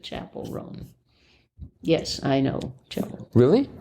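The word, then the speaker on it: Chappell Roan: Are you familiar with I think they pronounce it Chapel Roan.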